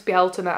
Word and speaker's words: Bealtaine: But in modern Irish, it's Belina.